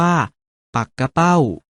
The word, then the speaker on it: ปักเป้า: ๆ เห็น อยู่ นี้ ถึง แม้ จะ เขียน เหมือน ปักเป้า แต่ ออก เสียง ว่า ปัก กะ เป้า หมาย ถึง ชื่อ ปลา